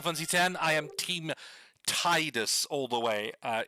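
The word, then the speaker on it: Tidus: 10 I am team Titus all the way. Uh, anyone who calls him tedious, even if that's the official official pronunciation, screw you. I'm not It is Titus 100%.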